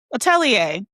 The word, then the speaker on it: atelier: Atelier, thank you.